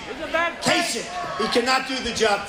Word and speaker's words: Kasich: In fact, most people don't even know how to pronounce his name. Kasich. Pretend it's a K. Kasich.